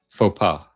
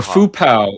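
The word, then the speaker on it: faux pas: wrong as social fauxpaw how do you say it fau fau or fu pow like one of my teachers used to say I'm not going to say foo pow that sounds silly but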